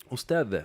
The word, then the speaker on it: أستاذة: أستاذة Ustad. Okay, so the H is not teacher, pronounced.